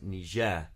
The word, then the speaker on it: Niger: course the river is niger that's fine but the country is actually pronounced niger who stressed on the second syllable and that's one you